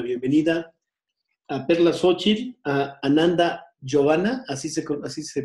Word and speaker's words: Ananda Giovanna: les doy la bienvenida a Perla Xochitl, a Ananda Giovanna, así se pronuncia, a Ananda Giovanna y a Mayra Bet, a este procedimiento de las entrevistas.